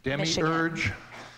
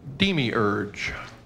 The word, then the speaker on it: demiurge: Demiurge. Are there any alternate pronunciations? The British sometimes say demiurge.